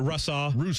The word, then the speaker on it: Russaw: How do you say it? Russaw. Yep.